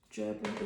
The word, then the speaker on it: gerbera: This flower in particular reminds me of a dahlia and a bit of a gerbera as well, or gerbera, however you want to pronounce it.